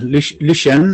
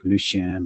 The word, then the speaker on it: Lucien: wrong lucien hello yeah lucian i i say but you can also pronounce it in the french way if you like lucian but i'm not french